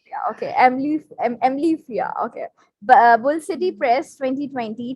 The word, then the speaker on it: amblyopia: Am, I don't know how to pronounce it. It's Amblyopia. okay, Amblyopia. Okay, Amblyopia.